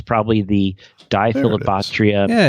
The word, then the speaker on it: Diphyllobothrium: It's probably the Diphilobopterium. Yeah, it's Diphilobopterium. That's right. It's Diphyllobothrium. And then it's how do we pronounce that?